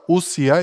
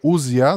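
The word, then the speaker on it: οὐσία: дума и се казва усия или узия зависи от произношението как е което означава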